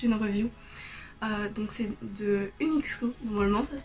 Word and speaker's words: Uniqso: Donc c'est de Unixco, normalement ça se prononce comme ça.